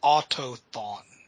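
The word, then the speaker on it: Autochthon: It's Autothon. CH is friggin' silent.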